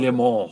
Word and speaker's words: Le Mans: like, "You're pronouncing it wrong. No, It's no. Le Mans."